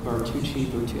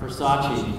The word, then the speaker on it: Versace: thing well I've said that about all the baruchi how do you say the whatever purses I don't know Versace thank you the Versace purses I don't know